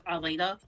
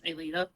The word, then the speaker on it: Aelita: So No, it's pronounced differently between regions. Like I pronounce it as Alita. Gary Yeah. pronounces it as Alita. It depends specifically on the dub.